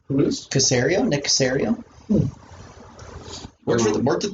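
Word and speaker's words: Caserio: of personnel that's how you say his name casario nicosario where'd you work with patriots how bad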